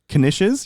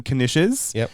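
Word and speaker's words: knish: Turkey and Swiss and some kishes. You pronounce the K. Some Kenishes and little individual um tubs of Pringles, single serve Pringles.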